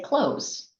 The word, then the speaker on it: clothes: So when I say the word clothes, I say close, like close the door.